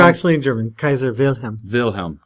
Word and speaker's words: Wilhelm: Wilhelm. So that W is like a V sound for Right.